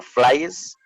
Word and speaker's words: flies: cualquiera que se coloque IS, sería, por ejemplo, flies, flies, o ¿cómo sería la No.